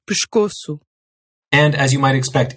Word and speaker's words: pescoço: Or whenever an S is at the end of a syllable, and the consonant after that S is unvoiced. These unvoiced sounds are k, f, p, or t. This gives you words like pescoço.